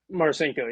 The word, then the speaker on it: Marcinko: Is Marcinko? Am I saying it right? Marcinko, yep.